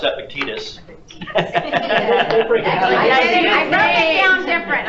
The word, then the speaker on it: Epictetus: You know how to pronounce Epictetus. I wrote it down different. I got it. Call me. What is it? E. E. E for big ears. Epictetus. Epictetus. Yeah. It's epic and it's not tedious.